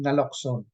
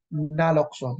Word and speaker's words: naloxone: Okay, and the last battery of it is the naloxone. Pag-pronounce po niyan is naloxone, hindi po naloxone.